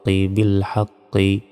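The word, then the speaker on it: بالحق: half জবর হাক কফ বিল হাক্ক এখানে থামলে কফরের উপর সাকিন দিয়ে উচ্চারণ করতে হবে তখন উচ্চারণটা হবে বিলহাক এখানে ধাক্কা দিলাম কেন ধাক্কা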